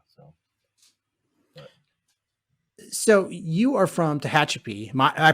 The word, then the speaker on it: Tehachapi: it's wild yeah so so you are from tehachapi my i pronounce that right right hp yeah you know